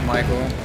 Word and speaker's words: Mikl: in the band or mine is just my name michael i just spell it differently and then ants is